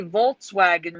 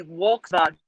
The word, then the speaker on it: Volkswagen: In Germany, a W is pronounced V, and a V is pronounced W. So, for example, we say Volkswagen wrong. It's supposed to be Volkswagen. Volkswagen. They're reversed.